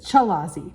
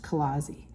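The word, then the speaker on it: chalazae: here's a picture Kazi looks like it says chazi but it's pronounced anounced Kazi and so those are those little um yarn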